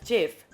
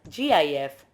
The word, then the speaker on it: GIF: GIF is pronounced as GIF. However, it is also acceptable to be pronounced as GIF, Joint Photographic Experts Group.